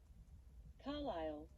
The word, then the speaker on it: Carlisle: Carlisle. Carlisle. There we go. It looks like it's spelled Carlisle or whatever, but it's spelled Carlisle.